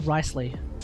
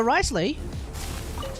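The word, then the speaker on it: Wriothesley: you meant to pronounce this right apparently it's pronounced ricely so risely has his Splash art the special got leaked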